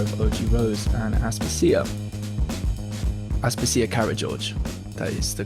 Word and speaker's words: Karageorge: So I'm here with Daniel Garner of OG Rose and Aspasia Karageorge. That is the correct pronunciation.